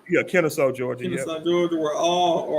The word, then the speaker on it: Kennesaw: Kennesaw? Yeah, Kennesaw, Georgia.